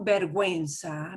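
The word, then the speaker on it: vergüenza: if somebody says tengo berguenza berguenza and i do pronounce the double dot means do pronounce it means shame so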